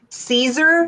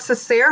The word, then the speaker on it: Cesare: Oh, and did you know that Adam's last name is actually Caesar, not Cesare, how I've been saying it the whole entire time?